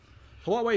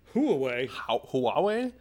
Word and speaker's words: Huawei: Huawei. It's Huawei. It's not Huawei. I don't know. I need like a mouthful of oatmeal to say it properly.